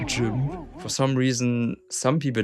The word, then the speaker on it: GIMP: Actually it's pronounced GIMP.